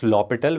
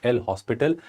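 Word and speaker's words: L'Hôpital: He was lital where H was silent. So this is not L hospital. This H is silent there.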